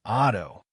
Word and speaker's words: otto: For more, hold the doubled letters in set and otto. Don't rush them.